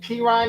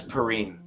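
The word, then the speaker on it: Perine: at least Oklahoma Ryan no it's purine you can mispronounce it all you want just like Mama call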